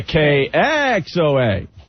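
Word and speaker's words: KXOA: that again oh yeah k x OA KX OA say it right well that's how they want us to say accent the X KX OA hey guys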